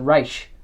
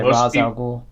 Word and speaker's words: Ra's al Ghul: returned to Earth, and his new target is Ra's al Ghul. Is that how you pronounce it, or is it Raish?